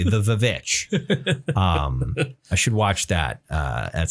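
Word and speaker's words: The VVitch: I haven't watched The Witch. I should watch The Witch at some point. The Vivitch? The Vivitch. Yeah. Yes. Sorry, I should pronounce it correctly. The Vivitch.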